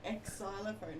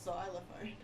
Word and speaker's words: xylophone: Yeah, but it's not ex xylophone, it's xylophone.